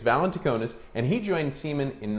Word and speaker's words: Valentinakis: It's Valentinakis, and he joined Siemens in 1995 and has held positions in technical support and product management.